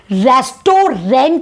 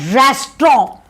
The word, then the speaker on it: restaurant: इसे रेस्टोरेंट नहीं बोलते, इसे बोला जाता है रेस्टोरेंट। जो बीच वाला जो टी है ना, वो ऑलमोस्ट साइलेंट होता है।